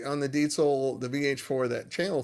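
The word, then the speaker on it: Diezel: VH4, and it's pronounced diesel, not diesel. Uh the Z sound in German is a ts. Um so, diesel.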